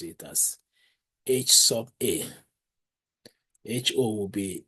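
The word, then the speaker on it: Hₐ: We are going to pronounce it as H sub A.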